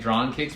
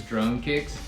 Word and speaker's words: Drone Kicks: I think I was pronouncing it Drawn Kicks, but I think it's Drone Kicks.